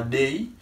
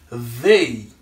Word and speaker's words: they: nous voyons une confusion donc ça il va prononcer day mais c'est la langue entre les dents pour capable prononcer th là c'est they ouais c'est pas day mais c'est they OK donc c'est I il et he.